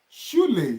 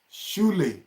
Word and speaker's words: Schule: You know, the words that I have not taught you, this SCH is being pronounced as she, like you want to say she of English.